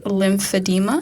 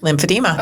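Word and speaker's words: lymphedema: So he actually launched a medical study to determine if exercise could prevent I'm so sorry if I mispronounced this lympadeema. Lympadema.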